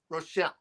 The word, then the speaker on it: Richel: Rochelle. Yes. There we go. Okay. Like Michelle, but with an R.